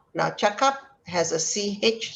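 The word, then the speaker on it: cakap: you the idea that you have to pronounce it as a ch sound chuck up this means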